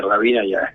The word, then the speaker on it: Hrabina: Andar explicando, y la H acá como no se pronuncia es Rabina y otra cosa.